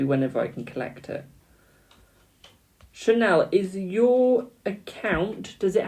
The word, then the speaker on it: Chanel: Apparently it's Chanel. Do I have a Chanel here? Who sent a donation to skip the queue? Hello, my darling. It's pronounced like the brand.